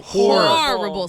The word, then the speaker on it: Whoreible: Is it horrible or horrible? Horrible. Spelled like whore? Like porn. H-O-R-E.